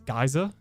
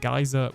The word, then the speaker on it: Geyser: needs to update the geyser plugin and uh you say what? Oh, how would you even say that? Not geyser. Geyser. You're phonetically I am not